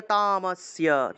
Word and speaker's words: তামস্য: আর ভাঙ্গার প্রয়োজন নেই তা মটাকে পূর্ণ উচ্চারণ করে ফেলবেন তামো তামো যদি ম টাকে পূর্ণ উচ্চারণ না করেন তাহলে তাম আসিস এভাবে বুধস্য ক্রিয়া তামস্য তামস্য এভাবে অথবা ম টাকে পূর্ণ উচ্চারণ করে ক্রিয় তামস্য ম টাকে পূর্ণ উচ্চারণ করতে হবে বুধস্য ক্রিয়া তামস্য হান্তুম